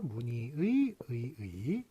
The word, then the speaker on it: 문의: 문의의, 자, 의가 이렇게 4개나 연속이 되는 이런 걸 보도록 하겠습니다. 자, 이거 어떻게 발음이 됩니까? 문의. 요거 니로만 발음이 돼요. 니로 발음되지 않습니다. 이거 니로 발음합니다. 니로.